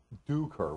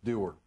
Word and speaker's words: Dougher: that's uh in over in Ireland they' actually pronounced it duer which is way too many letters for me so it's derer okay I I I it's a very unique